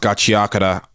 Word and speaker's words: Gachiakuta: Gachiakuta, I know it's pronounced Gachiakuta.